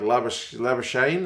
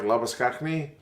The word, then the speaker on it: Labuschagne: I guess it's like that Aussie cricketer who calls himself like Labuschagne instead of like Labuskakni.